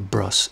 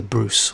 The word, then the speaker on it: Bruce: family by the way it's not the bruss is the bruce learn at least how